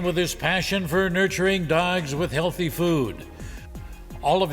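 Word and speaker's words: Dogue: the place it's called dog now it's spelled d-o-g-u-e in French that would be pronounced dog it caters to our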